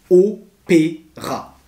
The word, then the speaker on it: Opéra: C'est très simple, la station de métro s'appelle Opéra. Trois syllabes, Opéra.